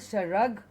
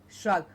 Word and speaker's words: shrug: okay shred shrug okay not sure rug but shrug not shrink but shrink